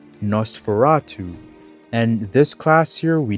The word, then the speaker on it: Nosferatu: The new class would be pronounced Nosferatu.